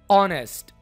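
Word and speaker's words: honest: अगर आप इस वर्ड को प्रोनाउंस करें तो इसकी साउंड क्या होगी? ऑनेस्ट, ओ।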